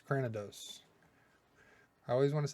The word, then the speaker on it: Cranidos: See, I always want to put that extra O in there, Cranidos, but it's Cranidos.